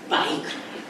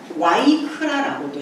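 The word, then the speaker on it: ויקרא: 청남 단어를 이름으로 했는데 그 이름이 바이크라. 그래서 바이크라는 어 와이크라고도 해요. 왜 그러냐면 어 독일식 발음이어서 그래요.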